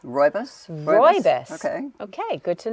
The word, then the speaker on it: rooibos: It is pronounced rooibos. Rooibos?